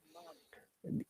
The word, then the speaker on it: month: month, Your tongue should touch the tooth. Month. Look, month. When you're saying month, the tongue should touch your tooth. Month. month, Month. Yes. Very good. When you pronounce sound, your tongue is between your teeth.